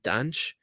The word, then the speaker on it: Dante: I think a lot of people will think of Dante, or I'm sorry, the Portuguese pronunciation of Dante is actually Danche.